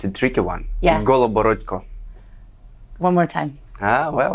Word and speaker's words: Goloborodko: your last name oh it's a tricky one goco one more time ah well I I said